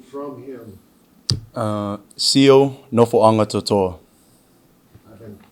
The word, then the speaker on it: Nofoagatoto'a: Nofoagatoto'a. I've been pronouncing it wrong.